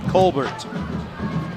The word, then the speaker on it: Colbert: yeah that's right colbert i'm not gonna give it some pretentious french sounding pronunciation colbert kind of like nate colbert used to be uh he was